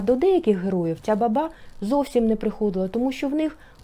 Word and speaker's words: баба: Образ баби, саме склад баба, на другому складі наголос ставимо.